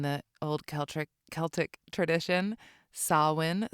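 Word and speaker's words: Samhain: old celc Celtic tradition sawin spelled s a m ha a i n totally not how you would think that you would pronounce it but pronounced Sinn and Halloween is actually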